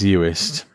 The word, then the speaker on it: Uist: I think it's pronounced Uist, but... Oh yeah, there's an I in that. Yep, it is Uist.